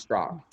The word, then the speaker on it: Straka: instagram at brandonstrock and my last name is spelled s-t-r-a-k-a but it's pronounced strock could you tell me brandon strzok i don't care it